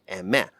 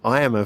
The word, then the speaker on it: Aimer: had told me but the actual pronunciation of her name is so weirdly different from how it's spelt that it had never